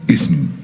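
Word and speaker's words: اسم: Now Alif in this word is pronounced as E, and it's written Alif Sin Mim. It's pronounced Ism. It's pronounced as Ism.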